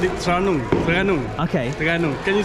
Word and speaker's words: Terengganu: How do you say Terengganu? Terengganu, right? Terengganu? We said it Terengganu. Terengganu. Okay. Terengganu. Can you spell it?